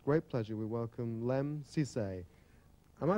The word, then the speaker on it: Sissay: and tonight with great pleasure we welcome LEM Cisse am i pronouncing that correctly yes Cisse I'm getting it right born 21 years ago